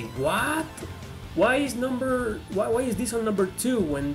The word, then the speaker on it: Ys: So let's finish this list with the number one, that is IS7. Yep, guys, this is not pronounced YS or Jess or whatever. It is pronounced IS.